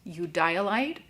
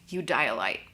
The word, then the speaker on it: Eudialyte: I've heard this gemstone pronounced Eudialyte, Eudialyte, or even Eudialyte, but the most common pronunciation for it is Eudialyte.